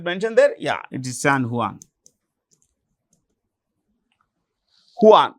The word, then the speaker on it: San Juan: there yeah it is San huan Hanan the J is pronounced with an H so San Juan okay so this is